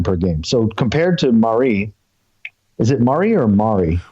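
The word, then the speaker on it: Marí: lead you to believe it's Pablo Marie okay Marie Marie has only been dribbled about 0.4 times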